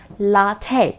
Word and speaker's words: latte: were the Americans behind they came up with latte yes that's how you pronounce it latte all right now how is this different this